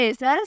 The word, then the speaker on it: AYZAL: नाम है एज़ल, स्पेलिंग है AYZAL।